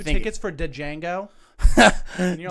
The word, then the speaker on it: Django: 2 think- tickets for Django? And you're like, dude, it's in the trailer. He literally says the D is silent.